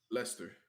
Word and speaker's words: Leicester: Leicester, how do you say that? Leicester.